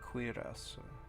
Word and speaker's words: cuirasă: Cuirasa.